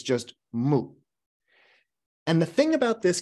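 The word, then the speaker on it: 無: this that's the character again in Chinese it's pronounced in Japanese it's just moo and the thing about this character is and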